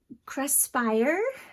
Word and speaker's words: Craspire: it right um it's it's the word create and inspire kind of jumbled together and i feel like i'm pronouncing it wrong but cresspire um and i did